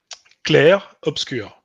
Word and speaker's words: Clair Obscur: It's just like the obscure, It's like a Mm, U.